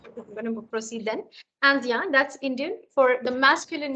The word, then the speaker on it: indien: Also, for those who might mispronounce it as India. India nahi hai, Andien. IN is the sound of a.